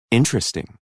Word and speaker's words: interesting: The vowel immediately after a stressed syllable is sometimes not pronounced. Average. Different. Separate. Comfortable. Interesting.